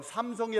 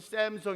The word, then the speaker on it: 삼성: 미국에 가면 셈 성 삼성이 라와 누르고 미국 사람들은 샘 성 이라고 발음을 해요 쎔 성에 어느 외산